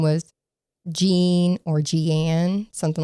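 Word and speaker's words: Jeane: So, you would think her name was Jean or Gianne, something like that, but it's actually pronounced Jean.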